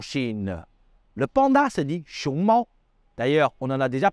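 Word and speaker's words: 熊猫: Le panda se dit xiongmao. D'ailleurs, on en a déjà parlé dans une leçon précédente sur l'importance de bien prononcer les tons en mandarin.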